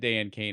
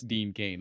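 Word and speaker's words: Dean Cain: But yeah, every time they said Dan Kane, I kept just feeling like they're mispronouncing Dean Kane.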